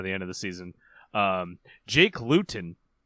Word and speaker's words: Luton: Jake Luton, which sounds like the word gluten.